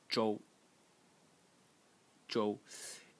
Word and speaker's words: 舟: element this entire thing over here which is pronounced Jo Jo and in the first tone and it's a